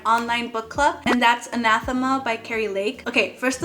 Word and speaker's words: Anathema: they are spelled, and my Spanish mind is anathema, not anathema, so I'm very sorry.